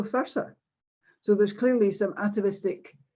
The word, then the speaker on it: Thurso: If you look at Thursa there, interestingly enough, people in Thurso pronounce Thurso Thursa.